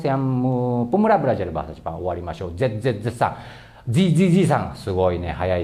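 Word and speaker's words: おわりましょう: Oke, jadi cara bacanya owarimashou. Owarimashou ya. Pertama itu mungkin ya satu-satu juga boleh, nggak apa-apa. Owarimashou.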